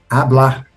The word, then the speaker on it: hablar: Então, tanto em Portugal como na Galiza, o verbo é falar, enquanto que no caieliano é hablar. Então, o caixelano perdeu esse som e transformou-se nesse H mudo, né?